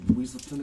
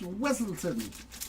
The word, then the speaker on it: Weselton: Another one for Cinderella Story and Duke of Weaselton again. It's pronounced Weselton.